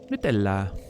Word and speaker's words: Nutella: Thank you for pronouncing Nutella correctly. Yeah, I mean, it's Italian, right? I have to. Nutella.